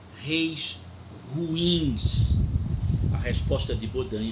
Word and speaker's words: Bodin: Baudin se escreve Bodin.